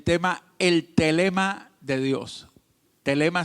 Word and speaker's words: thelema: Telema se escribe t h e l e m a.